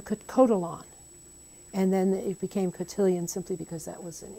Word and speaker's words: cotillion: other end is cotillions now for the english of course it's easier and you call it a gutilla you don't call it a french cult of we can't pronounce that well we can pronounce cotillion and that's what in